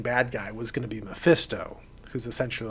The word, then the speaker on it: Mephisto: what's wrong with mephisto me fisto it's not me fisto it's mephisto my fist so ready to fix in a